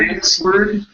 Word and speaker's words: answered: have the word insed this word the W is not pronounced so instead of saying answer answered questions like answered question